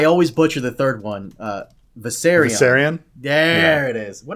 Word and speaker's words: Viserion: I always butcher the third one. Viserion. Viserion. There it is. What did I used to say? Viseron.